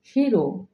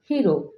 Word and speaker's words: hero: ওকে, next, হিরো। আমরা সাধারণত উচ্চারণ করে থাকি হিরো। হিরো অর্থ বীর, কিন্তু এই ওয়ার্ডটির কারেক্ট প্রনাউন্সিয়েশন হবে হেরো। হেরো।